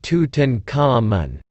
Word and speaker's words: Tutankhamun: i am tutan common egyptological pronunciation tutankhamun i commonly known as